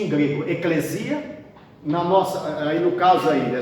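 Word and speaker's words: ἐκκλησία: E se pronuncia em grego eclesia.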